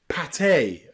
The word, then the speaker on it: pâté: But here, that E on the end with the accent marker is always pronounced A, café, and pâté, okay?